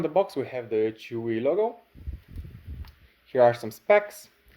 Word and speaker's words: Chuwi: Today we're doing an unboxing of a Chuwi tablet, or I think this is how it's pronounced.